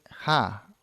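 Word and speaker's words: Jah: Ahora, tenemos otro nombre para Dios y este es Ja o Ya, como quieras. Ya te dije que por pronunciación no vamos a pelearnos, ¿ya? Se deletrea J-A-H.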